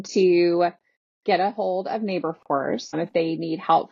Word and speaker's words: Naborforce: It's kind of a play on labor force, so Naborforce.